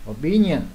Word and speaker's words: opinion: Opinion, nhấn lần hai.